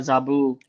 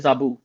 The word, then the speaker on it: Zabu: so oh good job you pronounced it right too you said Zabo so oh some people say zabu oh I'm guilty of that though sometimes I you know it comes out zabu zaboo but gotcha all